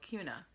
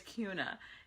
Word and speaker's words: Kuna: kind of it's called Kuna it's spelled like tuna and it's pronounced like tuna um Siri says Kuna